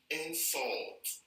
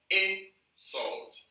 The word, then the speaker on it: insult: Now, when these words are pronounced, or when they are used as verbs, they are pronounced differently from when they are used as nouns. So now, if you're using this as a verb, the right pronunciation is insult, insult.